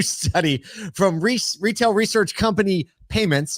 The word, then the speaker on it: PYMNTS: According to a new study from retail research company Payments, it's spelled Pymnts, very clever.